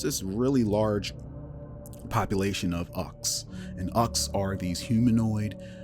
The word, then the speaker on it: Uch: Recently, I changed them to Ux, UCH pronounced Uck, or Uko, however. I like Uck.